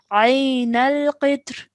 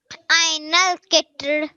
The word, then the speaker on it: عين القطر: Okay, so this kasra will now change into a sukoon and the pronunciation will change to Ayn al-Qitr. Ainal kitr.